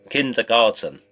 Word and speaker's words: kindergarten: Kindergarten. Say it properly. Kindergarten. That's better. Kindergarten. It's a German word used in the English language for preschool, little children.